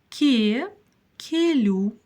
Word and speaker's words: келу: каждое слово по слогам ке лю келюс Кен если не получилось то сейчас всё получится ке лю л произносится мягко Но дальше всё-таки идёт буква у а не буква Ю лю лю пробуем ке